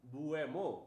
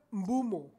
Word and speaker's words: Mbeumo: Mumo mumo. Buemo mumo. Tapi bacanyao mumo ya. Membum pelafalannyao. Membumo atau bemo bemo bemo cuk. Bomo secara tulisan beomo.